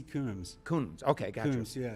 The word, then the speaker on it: Coombs: I don't know if it's pronounced Combs or Coombs Fellowship with the Australian National University in Canberra. Is it Coombs or Combs? H.C. Coombs.